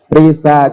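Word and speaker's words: RISSA: R-I-S-S-A, dibacanya Risa.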